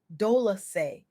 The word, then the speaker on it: Dolce: I'm your host, Dolce, pronounced dolasay, like sweet softness whispered in French.